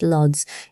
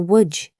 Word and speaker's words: Łódź: This letter is pronounced exactly like the English W, like water, like win. So Lodz, Poland's 3rd largest city, is not pronounced Lodz, it's closer to Łódź.